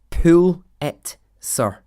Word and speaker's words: Pulitzer: week and it said it should be pronounced well this is how it told you to pull it sir like pull it pull